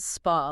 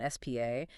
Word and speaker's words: SPA: And you pronounce it spa, like a wellness spa, not spa.